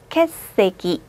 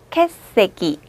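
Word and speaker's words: 欠席: 맨 앞에 있는 글자가 캐. 여기 있는 글자는 세 자인데요. 대표음을 밑으로 내리죠. 읽어볼게요. 캐세기. 한 번 더. 캐세기.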